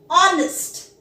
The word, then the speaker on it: honest: Honest. The word is honest. Although it starts with H, we do not pronounce it as honest. The H is silent here.